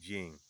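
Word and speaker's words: I Ching: You know, one thing that I've learned from the uh Iching, which is spelled I hyphen C H I N G, which back in the day was pronounced Ying.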